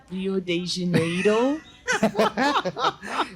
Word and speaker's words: Rio de Janeiro: It's actually pronounced Rio de Janeiro.